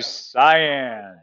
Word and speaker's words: cyan: Gives you cyan. Spelled like with a, like Ryan with a C.